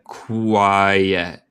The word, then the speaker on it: quiet: Quiet es como si, esto silencioso o tranquilo. Y se pronuncia quiet, silencioso o tranquilo.